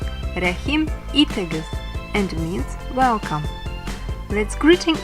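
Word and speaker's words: Рәхим итегез: The first sentence which you will see or hear in Russian may be DOBRO POZHALOVAT In Tatar it’s pronounced as RƏHIM ITEGEZ RƏHIM ITEGEZ and means Welcome!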